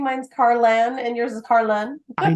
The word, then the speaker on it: Carlan: all the time because it's but it's pronounced Ayan so people tend to like put new letters in there that don't exist like